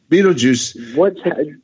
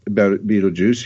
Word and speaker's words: Betelgeuse: Yeah, Betelgeuse.